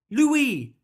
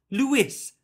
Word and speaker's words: Louie: had to tell people how to say his name Louie not Lewis when he first met